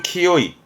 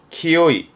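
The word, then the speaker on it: 清い: 많이 읽혀요 혼자 두게 되면 맑음을 의미하겠죠 이때 발음은 키요이 키요이 그게요 카로 끝나게 되면 요거는 나 형용사를 의미하는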